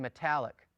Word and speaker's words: metallic: the Hatef sagol, and it's pronounced like the E in metallic. Metallic. It's almost as if you don't pronounce the E, you just run the M into the T.